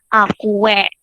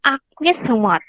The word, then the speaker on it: aqueous humor: Aqueous humor bacanya ya, bukan aque, bukan, tapi aqueous humor.